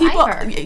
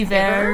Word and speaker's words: Ivor: How do people mispronounce Ivor? They just say Iver or something.